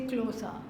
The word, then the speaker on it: Xhosa: You have to click, and then quickly say Xhosa.